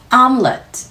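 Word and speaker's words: omelet: 거 오믈렛이라고 하죠이 아이가 사실 영어 발음을 들어보시면 아울렛 아웃렛이라고 발음하셔야 합니다 더 크게 열어서 아 소리 넣으셔야 하고요 m 소리 코로 빠져나오는 시간까지 충분히 호흡 얹어서 연속해서 굉장히 짧게 Let's 발음해주시면 됩니다 아울렛 그래서이 콧소리 때문에 그 울림을 오믈렛 한국에서는 음절을 추가하는게 되는데요 하고 공기를 툭 끊어 주셔야 됩니다 아울렛 어렵지 않으시죠 저는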